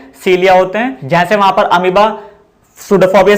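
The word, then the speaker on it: pseudopodia: It contains false feet called सूडोफोबिया। यहाँ पर P silent है, तो इसके एक फॉल्स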